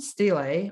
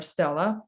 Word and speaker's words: stele: there today, there is an ancient stele or stela, whichever way you prefer to pronounce this.